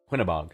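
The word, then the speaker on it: Quinebaug: This is from our friend Elaine from Quinbog, Connecticut. I hope I'm pronouncing that right. Queenbog, Connecticut. Pinnabog. Quinnabog, thank you.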